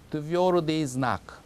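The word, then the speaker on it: твёрдый знак: 명칭은 드비오르디즈나크. 조금 낯설죠, 이름이. 드비오르디즈나크 이렇게 얘기합니다, 러시아어로.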